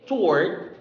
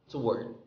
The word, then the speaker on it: toward: is you can say toward meaning silent w or you can say it's word to word toward or to word okay next is news